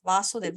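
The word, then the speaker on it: Vāsudev: Okay, so Yes, if there is a line on top of A, then we pronounce it as Vasudev.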